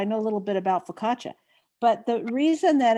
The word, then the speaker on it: focaccia: a little bit about focaccia but the reason that it's the ci in an italian name is pronounced like cha because there is no